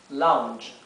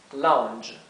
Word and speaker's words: lounge: Otra palabra un poco más formal para living room es lounge. Lounge. ¿Sí? Lounge se pronunciaría así. Lounge, con DH, ¿sí?